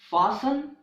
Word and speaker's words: fasten: castle hustle nestled rustle the letter T is also silent in the words fasten and listen okay the letter T